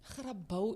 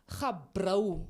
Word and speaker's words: Grabouw: sommige mense sê gabrou. Ai, And nee, man. Gabrou. They just swap it all around.